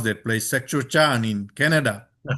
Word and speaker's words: Saskatchewan: Danica Besley, who works at Regina University in I I don't know how to pronounce that place, Saskatchewan in Canada. Saskatchewan.